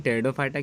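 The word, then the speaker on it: Pteridophyta: तो चलिए अब हम बात करते हैं डिवीज़न टेरिडोफाइटा की। ध्यान रखिए, कई स्टूडेंट टेरिडोफाइट्स की स्पेलिंग गलत लिखते हैं। टेरिडोफाइटा में आप लोगों को पी साइलेंट करके लिखना है, इसको ध्यान रखिएगा।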